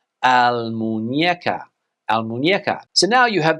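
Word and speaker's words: Almuñécar: Almuneca is what a lot of English people would say, but the correct pronunciation in Spanish is Almuñeca. Almuñeca.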